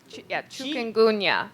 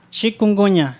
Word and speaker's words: chikungunya: I forgot the pronunciation of the disease you talked about. Something. What? Chikungunya. Chikungunya, yes.